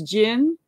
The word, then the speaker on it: Jin: It's Jin, as they would say, like the drink, only it's spelled with a J.